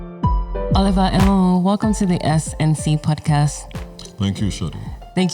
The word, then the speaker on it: Enwonwu: Enwonwu. Enwonwu. Yes, Enwonwu. That's how I pronounce his surname.